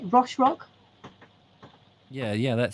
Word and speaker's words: Roche Rock: at rock the rochelle how do you say roche rock yeah yeah that sounds sorry i'd faded myself down then uh yes when he arrived at roche rock the height made him think again i'll never